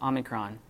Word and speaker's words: omicron: Just don't say O, because there is no O in Greek. It's just Omicron. And it sounds like a ah, as in hot or anything like that.